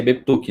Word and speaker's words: Beptuke: Se pronuncia Betuque, né? Mas acho que se escreve Beptuke.